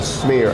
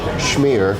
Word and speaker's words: schmear: There are a few foods more quintessentially New York than a bagel with a smear. I actually believe the correct pronunciation is schmear of cream cheese.